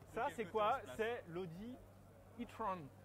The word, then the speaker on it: e-tron: C'est l'Audi e-tron. E-tron. E-tron. Faut prononcer à l'anglaise parce qu'en français, c'est plus propre.